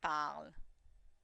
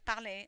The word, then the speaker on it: parle: He or she or it speaks, il or elle parle. Notice the e is silent. I'm not saying parler, I'm saying il parle.